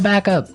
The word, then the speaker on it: backup: to point out that here the pronunciation and stress of this phrase is really important hey yes yes you have to say backup Backup backup yeah so both words words are stressed at about the same level hey mhm back